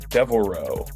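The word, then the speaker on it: Devil's Reaux: a movie called Devil Row, I believe, is how it's pronounced. It's Devil and then R E A U X.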